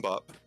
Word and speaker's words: bibimbap: I don't even think it's spelled right either. I don't. Is it Bibimbap? Is that correct? It is Bibimbap, and I did have to correct the spelling afterwards.